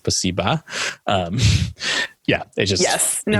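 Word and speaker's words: спасибо: At one point, someone says spasibo because they're trying to speak Russian. And it's just the worst, like British accented way of saying, and I'm pretty sure it's properly pronounced spasiba.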